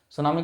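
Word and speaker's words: tsunami: में सुनामी कहलाता है सुनामी की स्पेलिंग टी से शुरू होती है कृपया सुनामी एक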